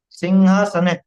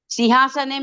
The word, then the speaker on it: सिंहासन: बोलोगे तब आ जाए सिंहासन नहीं सिंहासन इसमें का उच्चारण है क्या ह की जगह ख का उच्चारण है किसम सिंहासन में सिंहासन बोलते घ नहीं बोलते सिंहासन वो सुनने में ऐसा लगता है घ बोल रहे हो नहीं है वो सिंहासन है और ऐसे विचित्र विचित्र